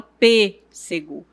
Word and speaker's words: pêssego: O som desse acento ele é fechado. Então, eu falo pêssego, gênero. Então, observe que eu fecho um pouco a boca para poder pronunciar essa sílaba. Então, todas as palavras que tiverem esse acento, o som será mais fechado.